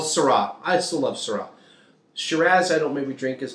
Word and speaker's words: Shiraz: far as reds and syrahs shiraz or shiraz surah's in australia by the way that's how they pronounce it um so those are